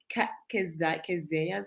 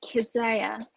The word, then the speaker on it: Keziah: And I want to actually apologize for the pronunciation of Keziah's name. Please pronounce it for me again. It's Keziah. Much in the same way you pronounce Isaiah. Keziah.